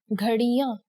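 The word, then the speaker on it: घड़ियाँ: For example, clocks, ghadiyan. Here, the Chandra Bindu can be seen above the last vowel, a.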